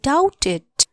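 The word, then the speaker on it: doubt: शंका छ भन आई डाउटेड डी ओ यू बी टी डाउट बी को उच्चारण हद साइलेंट हु्नछ्छ यो लेटर डी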